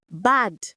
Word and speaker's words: bad: So many of us pronounce bad so it rhymes with bed. But the standard for these exams needs that open a sound.